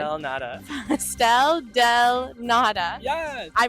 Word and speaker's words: Pastel de nata: The pronunciation. Pastel del nata.